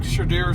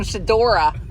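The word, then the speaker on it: Shedeur: Ask Shadira Sanders. You could say his name. Did I say it wrong? This morning? This morning, Bill was calling Shadora. I'm like, there's no Hey, that's not even his name.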